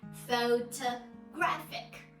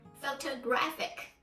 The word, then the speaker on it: photographic: is out Yuri the third syllable so we pronounce it as photographic photographic okay so we can just see these three